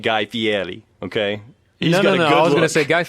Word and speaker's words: Guy Fieri: But I mean, I feel that Jimmy Ray is probably rockabilly in the same way that Guy Fieri is rockabilly, and that he's Don't not.